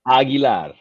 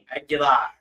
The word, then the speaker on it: Aguilar: And do we say it Aguilar? Is that the right way to say it? Aguilar. Aguilar.